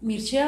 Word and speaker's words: Mircea: Mircea, o sea, se escribe Mircea.